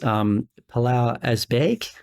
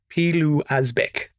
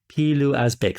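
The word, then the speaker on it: Pilou Asbæk: What's interesting is that across those first three films, Palau Asbæk, if I'm pronouncing that actor's name correctly. I actually Googled his name. The correct pronunciation, and I wrote this down, is Pilu Asbæk. Pilu Asbæk.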